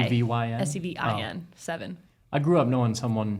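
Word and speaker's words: Sevin: Yeah, his name's Seven, but it's spelled with an I. S-E-V-Y-N? S-E-V-I-N. Seven.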